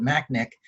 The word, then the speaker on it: McNich: was the goalkeeper coach actually he pronounced it mac nick and i had coached